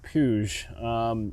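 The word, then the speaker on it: Puig: I believe you pronounce it Puge.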